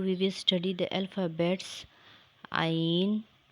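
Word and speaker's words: ع: Ain is a light sound and long letter. It is pronounced from the middle of the throat.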